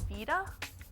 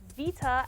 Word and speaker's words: PlayStation Vita: It's pronounced Vita, as in the Italian word for life.